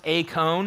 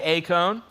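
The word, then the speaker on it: εἰκών: It's actually pronounced a cone in Greek. So everybody say a cone.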